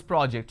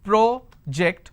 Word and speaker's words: project: i mean by this i can either pronounce this as project or i can pronounce this as project is there a difference between these two pronunciation yes there is a big difference when i say its project i am talking about a verb just a moment the